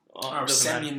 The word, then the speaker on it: Semyon: Semyon Varlamov.